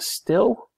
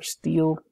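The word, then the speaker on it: Stihl: So here is a steel, or steel, depending on your pronunciation of the German word.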